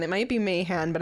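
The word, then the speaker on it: Mahan: sure he's pronounce it man it might be Mayhan but I'm pretty sure it's man m-a-h-a-n all right so we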